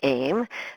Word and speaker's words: AEM: The goal of both the AIM center, and we also pronounce the A-E-M "aym" is to build the